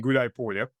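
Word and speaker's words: Гуляйполе: The main fortress being Gulay Polya, which, by the way, it's two words combined to one, Gulay and Polya.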